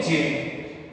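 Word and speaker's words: gaol: गोल जेल, इसको पढ़ेंगे जेल।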